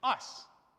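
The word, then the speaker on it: εἰς: This word is ice. Yeah? Ice. That's how you pronounce it.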